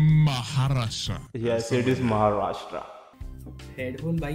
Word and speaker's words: Maharashtra: You know, I can't pronounce it. Maharashtra. Maharashtra. Yes, it is Maharashtra.